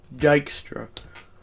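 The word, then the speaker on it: Dykstra: It's pronounced Dystra.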